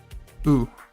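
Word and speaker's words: う: u turned sideways and just pronounced like question mark ooh good job back to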